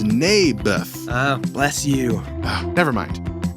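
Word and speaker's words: Naboth: that's what i said mayberff i think you're saying it wrong his name was neybeth ah bless you never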